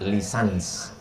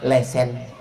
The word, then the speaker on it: licence: Tulisannya licence. Cara membacanya lisans. Kalau di Malaysia lesen.